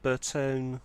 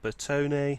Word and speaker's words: Bertone: it is Duster G on the Astra G bertone or Bertoni however you want to pronounce it convertible I actually quite like this